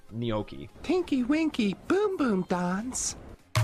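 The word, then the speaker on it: gnocchi: Cuz the G and N are pronounced as a as a as a as an N. Neokei.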